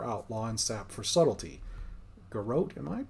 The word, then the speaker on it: Garrote: Garrote for Assassination, Blind for Outlaw, and Sap for Subtlety. Garrote? Am I pronouncing that right?